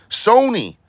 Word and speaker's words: Sony: Cuz now I'm going to be like, is it Sony? Like, oh, it's just Sony. Like Sony PlayStation.